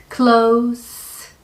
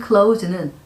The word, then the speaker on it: close: 뒤에 있는 제가 그것을 닫을게요 라는 I will close it 할 때는 이 close는 z 발음을 해서 동사로 쓰이고 있습니다.